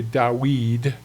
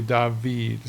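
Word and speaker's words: דוד: And you would say, in a biblical Hebrew perspective, you would say Dawid. But if you're a modern Hebrew, you would say David. So either way is fine. If you hear it pronounced Dawid, don't get on anybody because they're just using biblical Hebrew as opposed to normal everyday to conventional Hebrew today.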